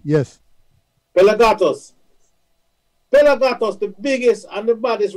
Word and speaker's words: PelaGatos: Pelagatos. Am I pronouncing it the right way? Okay. Yes, okay. Yes, it's perfect. You said it correctly. Yes. Pelagatos. Pelagatos, the biggest and the baddest radio station.